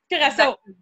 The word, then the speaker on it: Curaçao: Donc, Jessica qui est en direct de, je vais être sûre de bien le prononcer, Curaçao. Curaçao.